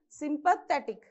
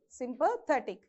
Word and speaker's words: sympathetic: From the end, second syllable. So sympathetic. So you have to stress more on the sympathetic.